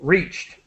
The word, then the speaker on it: reached: help you with pronunciation reached yeah t as quickly as possible reached numerous in other words